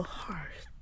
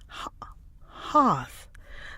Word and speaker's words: hearth: And then British is hoth. The American one has an R in it.